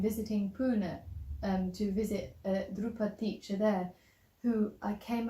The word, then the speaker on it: Dhrupad: But yeah, so I was interested about the musical is it practice of Dhrupad? Am I saying it right? So that's Dhrupad.